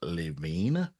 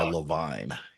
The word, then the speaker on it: Levine: My name is actually pronounced Levine, but I go by Leavine and it's Jewish.